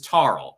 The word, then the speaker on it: Tarl: So my name is Tarl. I'll pronounce the T there.